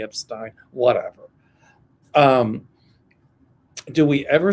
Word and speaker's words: Epstein: I say Epstein, I know people say it's Epstein. I pronounce it the German way Epstein, whatever.